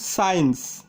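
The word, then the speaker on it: science: Rule number 9, শব্দের মধ্যে যদি এসসি থাকে তবে সি এর উচ্চারণ হয় না। উদাহরণ সমূহ, যেমন সায়েন্স, সেন্ট, ডিসেন্ট, এখানে সায়েন্সের এসসি পাশাপাশি থাকায় সি এর উচ্চারণ হয়নি।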